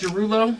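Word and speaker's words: Desrouleaux: Twitter allows man so is it pronounced dulo it is pronounced but you just shorten it up yeah it's French it's d e s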